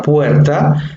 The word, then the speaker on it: puerta: La palabra puerta tiene 2 sílabas, puer y ta, donde vemos que la mayor entonación recae en puer, ¿sí?